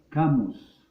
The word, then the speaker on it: Camus: Se escribe Albert Camus.